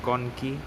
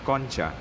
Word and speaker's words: concha: call them the nasal concha or con ki british pronunciation conqui the american english pronunciation concha so we have three